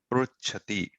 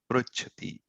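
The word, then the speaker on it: पृच्छति: The specialty of this pronunciation is this pronunciation of ru slightly trails pa. It doesn't come with ru. Pru. Pruchati. So the ra you will hear the re slightly after pa. Pruchati.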